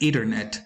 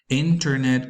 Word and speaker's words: internet: The next case is quite interesting, and it happens with the word internet, which many students say pronounce as ethernet instead of internet or internet.